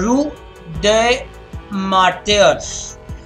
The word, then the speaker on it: Rue des Martyrs: Finally, they got a cab and they were dropped off at their door in the, this one is pronounced a Rue des Martyrs. That's how you pronounce it.